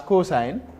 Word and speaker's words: cosine: Then the other one is cosine, is also abbreviated as cos, COS, but pronounced as cosine.